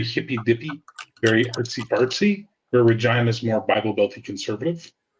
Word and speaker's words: Regina: I'm actually thinking in a year or so about relocating to Regina. The town that rhymes with fun.